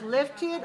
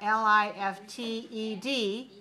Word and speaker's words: lifted: That's another syllable, an extra syllable.